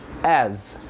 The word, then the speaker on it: as: expressão aqui, ó, such as. Such as. Vou começar falando dessa última palavrinha aqui, o A e o S, que a gente pronuncia como se tivesse um sonzinho de Z no final.